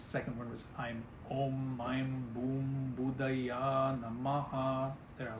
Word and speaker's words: Om: everybody's heard the word Om either the spelling om M or a m which is again more if you've studied it more you often start encountering it as three syllables instead of two syllables um the second syllable